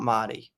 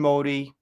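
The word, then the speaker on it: Modì: Festival where he premiered Modi starring Al Pacino. I'm finally saying it right. It's Modi, not Motti.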